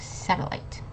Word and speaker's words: satellite: and finally we have satellite you might know this uh the E is silent so you don't say